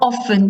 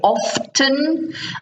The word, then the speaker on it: often: Some people in English say often, and some people say often. Means the same, is spelt the same with the T. Sometimes in some areas of England, the T is silent.